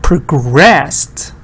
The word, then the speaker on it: progress: But here, stress is on the first part, and it's not a schwa, it's like a real O. It's like an A in American. Progress.